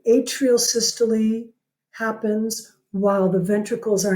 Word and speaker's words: systole: these terms systole and diastole this looks like systole doesn't it yeah it's pronounced systole I'm guessing it's because it's got a Greek